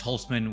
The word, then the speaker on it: Holcman: That's Holcman with the C, pronounced like an S.